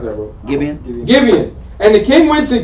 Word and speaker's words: Gibeon: And the king went unto, how do you pronounce that, bro? Gibeon.